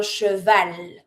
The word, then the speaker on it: cheval: Un cheval. You do pronounce the L.